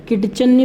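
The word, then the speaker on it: kitchen: चलता है किचन के किचन की स्पेलिंग देखना है कि आईटीसी एचयूएल किट चलने वाली यह पट्टी साइलेंट है मेरे किचन में क्या साइलेंट है अत इस आयरलैंड है कि चन्नी बोलेंगे हम इसको क्या बोलेंगे किचन बोलेंगे किचन मतलब किचन चिमनी होती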